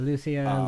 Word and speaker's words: Lucia: her name differently than I thought it was pronounced but uh Lucia.